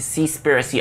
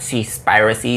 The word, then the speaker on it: Seaspiracy: thought provoking i gave c spiricy a shot i believe that's the proper way to say it not cease piracy though i think it's